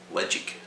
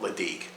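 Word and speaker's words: Ledaig: a brand but uh legit is how you say it not ladake led jake ledjig and legend means safe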